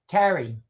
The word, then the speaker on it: Cary: I mean, I do a call every day in Cary, North Carolina. I mean, Wow. it's, what you Carrie? You mean Carrie? Carry. I'm pronouncing it like my niece Oh, really?